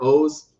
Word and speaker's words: OOO: So the fact that he calls it Kamen Rider O's, I'll take it.